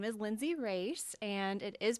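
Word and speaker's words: Racz: are about me well my name is Lindsay race and it is pronounced race that's a big Hot Topic question I well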